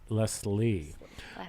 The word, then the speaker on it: Leslie: would let you know Charlotte so it's less Leslie and what day is this on Saturday October